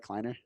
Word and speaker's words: Kleiner: Susan kleiner did I pronounce that right kleiner okay good cuz I hate when I put